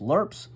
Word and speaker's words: LRRPs: long-range reconnaissance Patrol followed lrrps pronounced lerps usually consisted of around